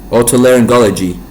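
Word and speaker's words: otorhinolaryngology: Autoarangology.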